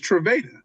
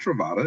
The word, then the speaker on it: Trava: I'm like, "Nah, it's Trava. It's Trava. Not Travata.